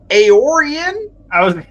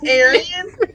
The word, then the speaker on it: Aoran: I was gonna say just a little pronunciation aoran I not Aryan pretty distinct differences so aoran I thought